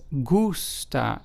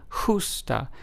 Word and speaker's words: gusta: Whereas gusta, which starts off with a G but then is followed by a u s t a, which means like in Spanish, is pronounced as gusta, as opposed to justa.